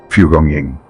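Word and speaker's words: 蒲公英: Named Pugong Ying, a name still used today in traditional Chinese medicine. Pugong Ying, worth saying slowly. 3 syllables carrying thousands of years of accumulated knowledge.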